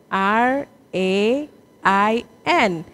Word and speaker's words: reign: this is rain okay and then we have another word also with the same pronunciation but different spellings do you see this r e i g n that is also rain so when we are